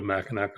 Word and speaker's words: Mackinac: our trip up to mackinac island mackinac have to pronounce it like i'm a michigander but yeah i know